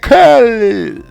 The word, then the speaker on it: Khaled: i stink at that so much it's dj khaled i don't think that was any better but